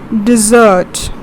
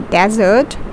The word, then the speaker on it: dessert: See, How I pronounce this as dessert. We don't say desert, but we say it as dessert.